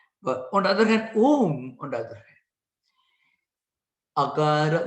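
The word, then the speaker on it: ॐ: Now, when the first of all, A is pronounced with mouth open. U is pronounced mouth half closed. Ma is pronounced with mouth fully closed.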